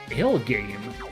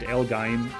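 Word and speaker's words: L-Gaim: Elgame gonna catch a kill here. Or was it Elgaim? Did someone pronounce it Elgaim in one of the...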